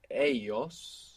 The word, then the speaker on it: ellos: Now the word for they is ellos. E-L-L-O-S. And this L-L in most Spanish dialects makes a Y sound.